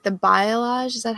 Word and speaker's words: balayage: I am, but I wanted that kind of like the balayage. Is that how you say it? Oh yeah, balayage.